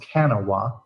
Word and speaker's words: Kanawha: that goes to a street, I believe it's pronounced Kanawha, and then basically ends there.